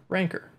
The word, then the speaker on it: Rancor: more concrete tracking perk rancor or ronco or however you want to pronounce it people always tell me